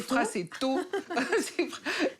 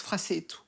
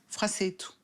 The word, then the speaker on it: Frassetto: À la française, c'est Frassetto. D'accord. Et comment ça se prononce en Corse, Frassetto. On n'accentue pas sur la dernière syllabe. Frassetto.